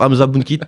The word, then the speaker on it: Hamza Bounkit: et notre invité du jour, Hamza Bounkit. Enchanté. Je le prononce bien.